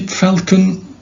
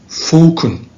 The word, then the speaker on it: falcon: you pronounce this word do you say falcon when you say falcon this is u.s english and in the british english it's falcon okay the falcon which is